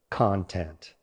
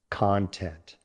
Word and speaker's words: content: Now this word has an adjective form, not a verb, with stress on the second syllable, content.